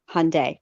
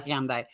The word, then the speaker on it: Hyundai: I'm here in my Elantra, and I have never heard, how is it pronounced? Tell me again. Hyundai.